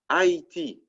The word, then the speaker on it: Haïti: Same thing with the country of Haiti, right, which is pronounced A-E-T, Haïti, right, in French, Haïti.